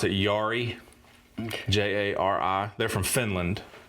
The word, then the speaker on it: Jari: The lead guy, his name is, I'm going to pronounce it Jari.